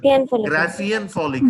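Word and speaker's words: Graafian follicle: Follicle also, what the pronunciation? Graphian follicle.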